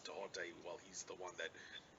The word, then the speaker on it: Thoth: And regarding, excuse me, the Hermetic principles, um, the god Tahote, and I didn't say Thoth. Some people have told me it's actually pronounced Tahote because there is no TH sound, Thoth, in the Egyptian language.